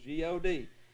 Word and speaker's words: Gad: mad or lad okay in hebrew it rhymes with rod sod and nod the hebrews would pronounce this word spelled with english letters g-a-d the exact same way that we pronounce the word god g-a-d equals g-o-d well who